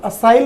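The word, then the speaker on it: assail: असाइल word हो रहा है, आप देखिए तो इसका प्रोनाउंसिएशन मिसाइल जैसा हो रहा है।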